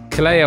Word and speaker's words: Kaleo: hopefully kaleo can offer some words of wisdom kaleo i hope i've pronounced that correctly it's a wonderful name and